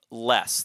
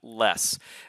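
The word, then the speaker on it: loess: Yellow River gets its name from less that is how you say that less it's a rich yellow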